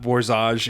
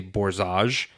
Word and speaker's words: Borzage: Danny, huge shout out letting us know, hey, it was not Borzage, it's Borzage.